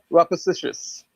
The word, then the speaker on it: rapacious: It's pronounced rapacious. It's rapacious.